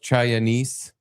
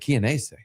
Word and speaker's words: Chianese: Fucking Dominic Chianese, who I thought his name was pronounced Chinese because it's spelled like Chinese with an A in it. And it's the first time I ever heard someone else say his name because I've only ever read it.